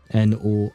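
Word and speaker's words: nord: would write North uh you would write it n o r d but you would actually pronounce it no we don't pronounce the d but never mind that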